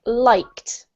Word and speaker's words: liked: This one is pronounced liked. Liked. Yep. T sound in the end.